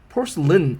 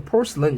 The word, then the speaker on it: porcelain: porcelain 같은 경우는 A 끝부분이 AIN인데요. 이런 거는 porcelain 이렇게 발음을 하고요. 여러분 참고로 우리 악당을 뭐라고 해요? villain이라고 하죠. 이 villain도 끝부분이 AIN인데 villain 이렇게 발음이 되거든요. 여기도 porcelain 이렇게 발음이 된다는 거 참고로 알아두세요.